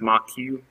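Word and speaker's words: Moq: going to add the mock framework mock or sometimes pronounced mock Q um this is a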